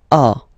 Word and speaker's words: as: So as you can notice, second form AS is pronounced A, and this is A. Same pronunciation in both cases, okay?